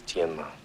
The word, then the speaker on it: Tianma: The correct pronunciation is Tianma.